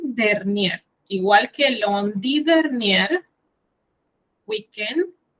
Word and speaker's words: week-end: Le week-end dernier, igual que lundi dernier, weekend, como en inglés, solo que cambia, la sílaba tónica cambia. En francés, weekend, y en inglés es weekend.